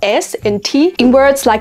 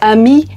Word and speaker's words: amis: Il a son propre ensemble de règles, c'est comme un style libre, comme ne pas prononcer le "s" et le "t" finaux dans des mots comme "amis" (amis) et "chocolat" (chocolat).